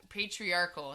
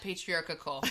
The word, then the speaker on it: patriarchal: it's hard to pronounce patriarchal patriarch patriarchal not patriarchical I'm putting an extra